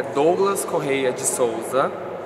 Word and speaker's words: Douglas: Meu nome é Douglas Correia de Souza. A pronunciação certa é Douglas, Douglas.